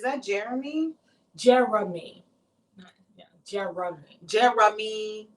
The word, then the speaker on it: Jeramy: Jeremy. It's spelled Jeramy. Oh, that was kind of weird. I mean, J-E-R-E.